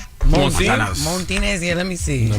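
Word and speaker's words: Montanez: No, it ain't ain't no R in it. It's spelled M O N T A N E Z. Montinez.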